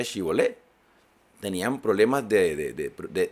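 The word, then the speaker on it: shibboleth: Y si ellos respondían, no, entonces les decían, ahora pues di shibolet. Y él decía sibolet. No decía shibolet.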